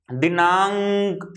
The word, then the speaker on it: दिनांक: रुकावट महसूस, देखो बोल के देखो, दिनांक अंग अंग आ रहा है, दिनांक। यदि अंग नहीं लोगे आप तो क्या होगा?